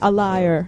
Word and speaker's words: Alia: A liar. So when people Well, it's call pronounced you- Alia.